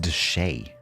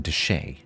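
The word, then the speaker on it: de Chelly: Oh, it's pronounced Deshay. Right. It's Canyon Deshay, apparently.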